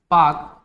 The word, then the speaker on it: Palk: क्या बोलते हैं, पाक जल संधि। पाक जल संधि, पाक की स्पेलिंग होती है PALK, ठीक है ना, PAK नहीं PALK, पाक जल संधि, ठीक है ना।